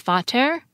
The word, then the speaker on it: Vater: father begin with P, the word in English and other Germanic languages begins with an F sound. In German, it's Vater, in Swedish, it's Far, and in Gothic, it's Vater.